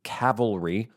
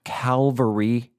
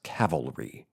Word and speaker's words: cavalry: US Army cavalry, not calvary, not nuclear. It's cavalry. C A V A L.